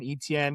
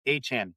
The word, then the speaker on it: Etienne: It's pronounced A-Chan. Travis Etienne.